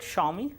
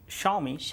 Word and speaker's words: Xiaomi: So they call it Xiaomi. Xiaomi, because in Chinese pronunciation, whenever XIA comes, so they pronounce it Sha. Okay. So it is Xiaomi as per them.